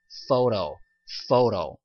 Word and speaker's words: photo: 하지만 정확한 발음은 photo 이렇게 발음이 돼야 되겠죠.